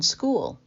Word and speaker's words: Skool: us in YAIT Town Community on School. That's spelled SKOOL.